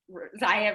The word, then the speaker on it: Zaya: like rhymes with papaya like zaya rhymes with papaya it was clever it's